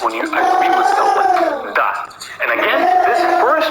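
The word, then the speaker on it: да: you agree with someone D and again this first letter here is D it looks like a house but it's pronounced as d and a of course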